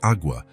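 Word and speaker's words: agua: It's pronounced awa with a very soft g e.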